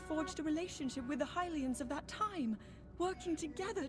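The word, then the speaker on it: Hylians: And these figures look like Hilians. Hilians. I would have thought that was pronounced Helians. I've been saying it wrong all this time.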